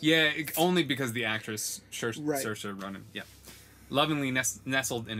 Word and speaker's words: Saoirse: His father, Nathaniel, stood proudly by him, huge hands resting gently on his shoulders, and his wife, Buck's mother, Saoirse, Buck's mother, Saoirse, lovingly nestled in his chest.